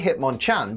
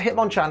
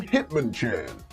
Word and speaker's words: Hitmonchan: physics it turns out Hitmonchan has a trainer who turns up and starts pronouncing his name Hitman chin Hitman chin Hitman chin that's going